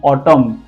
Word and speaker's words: autumn: Then ऑटम, जो एक season होता है, AUTUMN।